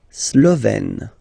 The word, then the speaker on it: Slovène: La Slovénie, so only one form here, Slovène. Slovène. Remember, E accent grave, you open it.